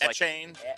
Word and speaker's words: Etienne: Apparently, Travis Etienne's last name is not Etienne anymore. Etienne? What is he going with? No, it's Etienne?